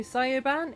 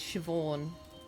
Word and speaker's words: Siobhan: Scio Scioan. It's Siobhan. Siobhan. It's pronounced Siobhan or Siobhan.